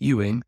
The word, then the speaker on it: Ewing: then the chicken wame wing rhymes with Ewing and also hits the